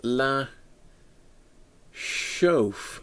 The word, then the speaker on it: La Chouffe: Is it not pronounced Chouffe? I don't know. Thank you, Rob. So Martin's in. It's pronounced La Chouffe. Chouffe? As in chauffeur?